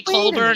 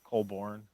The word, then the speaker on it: Colborn: Some people say Colburn and they spell it with the URN when it's ORN. I did that for a long time, and it's Born. Colborn.